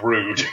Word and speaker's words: Roode: No, it's Rude. It's like, oh shit, I've been saying it wrong.